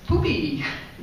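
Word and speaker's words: Pupi: Outside of the museum is Poopy. It's puppy, we say, but in Spanish, U is spelled U, so it's Poopy.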